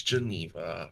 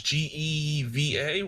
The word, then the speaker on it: Geva: I don't think her name's Geneva. I think it's G- G- Jiva. I think it's Geva, right? Yeah. It is spelled Geva.